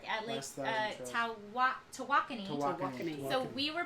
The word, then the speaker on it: Tawakoni: Tawakoni. Tawakoni. So we were pronouncing Lake Tawakoni Totally the wrong wrong.